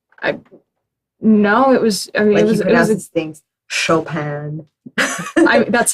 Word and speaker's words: Chopin: sound super posh I know it was things Chopin that's how you pronounce the composer but I don't I don't